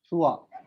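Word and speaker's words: trois: सर 3 का pronunciation एक बार और बताइए ना. छुआ.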